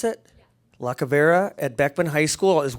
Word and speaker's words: Lacavera: So I'd also like to call up at this point now Bianca Lacavera. Is that how I pronounce it? Yeah. Lacavera at Beckman High School as well.